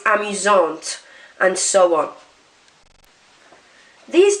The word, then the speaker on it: amusante: You just now pronounce the end consonant. So instead of arrogant, it's arrogante. Instead of amusant, it's amusante, and so on.